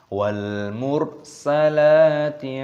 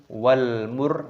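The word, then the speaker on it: وَالْمُرْسَلَاتِ: pertama pada surah Al-Mursalat, terdapat alif lam qamariyah. Di sini alif lam qamariyah itu ciri-cirinya biasanya lamnya berharokat sukun. Di sini ini, maka kita membacanya yaitu wal mur, seperti itu. Wal mur. Nah, perhatikan roknya terdapat tasdid di sini. Maka roknya di sini dimatikan, disukunkan, kita baca wal mur.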